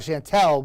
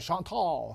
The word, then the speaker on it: Chantal: I wanted to call it Chantel, but I did some research and I watched all these meteorologists in the Carolinas, and they're all calling it Chantal. So I said, okay, and I checked the pronunciation. It was the same.